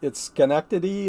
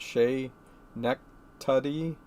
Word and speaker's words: Schenectady: It could be yeah, it's Schenectady as far as I know, the SK kind of a thing, not Shay Nectuddy, but I'm not sure about the emphasis on the syllables either.